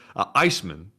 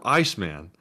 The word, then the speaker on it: ICX Man: He said Iceman is what it stands for. It's spelled ICX Man, but it stands for Iceman.